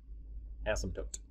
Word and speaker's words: asymptote: have is called an asymptote again that's pronounced without the p that p is silent in that word um it's asim asym tote asymptote sometimes i'll i'll say